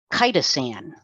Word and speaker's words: chitosan: Chitosan is how it's pronounced.